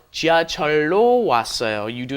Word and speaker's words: 지하철로: It is an irregular because the lil up against the lil becomes a long L. 지하철로 왔어요.